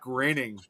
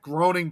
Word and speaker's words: Groening: It's kind of like similar with Matt Groening, of The Simpsons, and a lot of people always thought his last name was supposed to be pronounced Matt Groening.